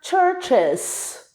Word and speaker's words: churches: Quando eu falo church, que é uma igreja, quando eu coloco S, eu acrescento uma sílaba na pronúncia e ela vira churches.